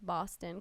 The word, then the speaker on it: Boston: It's like Boston because it's like awe.